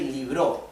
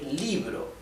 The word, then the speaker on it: libro: However, the acento, the accent, is here on the I, because this is the vowel that carries the stress, the tone stress, right? We do not say libro, we say libro. The stress is on letter I, right?